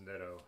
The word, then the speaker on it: Nitto: It's pronounced Nitto, Ben says.